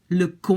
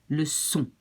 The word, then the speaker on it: leçon: To avoid to pronounce it like k, le con, you have to put this little CD, it's called, this little thing underneath. Just to say, watch out, it's pronounced like an S. Le son.